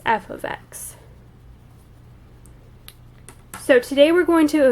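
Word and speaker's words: f(x): y equals you would write something something like f ofx equals and that's how you pronounce f parentheses x it's called f of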